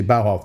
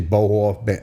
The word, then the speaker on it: Bauhoff: carey bauhoff but he no one could say bowhof they would say boho you know they never said it right so he just went